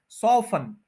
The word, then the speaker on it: soften: बना देना, क्या है, सॉफन। टी जो है वो साइलेंट है, सॉफन, सॉफन। 2 सिलेबल्स हैं, फर्स्ट के ऊपर स्ट्रेस है, सॉफन। सॉ पे स्ट्रेस है, फन पे नहीं।